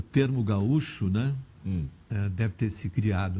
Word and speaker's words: gaúcho: Como se pronunciava? Gaúcho. Se pronunciava gaúcho, quando apareceu a palavra.